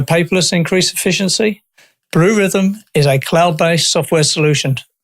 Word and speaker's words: Rithm: That's where rhythm is spelled RITHM, like algorithm.